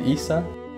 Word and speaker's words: Isa: Her friend's name Isa? Yeah, but hers is pronounced Isa, and she's Italian.